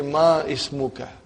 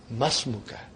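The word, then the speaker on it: ما اسمك: It will be incorrect to say ma ismuka. You should say masmuka. Because hamzatul wasal. When the hamzatul wasal comes in the beginning of a sentence, you pronounce it. If there is something in front of hamzatul wasal, then it is assimilated.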